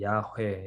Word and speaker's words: 야훼: 이 말 그대로 사실 발음하면 야훼 이렇게 된다고 말씀드렸죠.